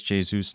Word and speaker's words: Jesus: Thanks, Thelma, for pointing out it is Jesus, not Jesus.